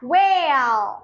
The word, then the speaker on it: whale: H is Silent. white. White. I can say the board is white. The board is White. whale.